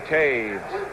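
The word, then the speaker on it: Toews: Lauren Taves made the tackle, number 51. That's spelled T-O-E-W-S.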